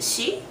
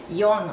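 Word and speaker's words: 四: got that okay so um four is I pronounced the she but sometimes you can pronounce it as y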